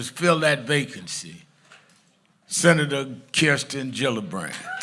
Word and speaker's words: Gillibrand: Senator Kirsten Gillibrand. She came that Saturday and I said I introduced her as Gillibbrand. I couldn't say her name right.